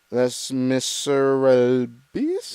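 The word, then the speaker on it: Les Misérables: Les Miserables.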